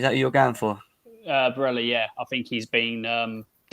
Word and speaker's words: Barella: Barella, that's how you pronounce it.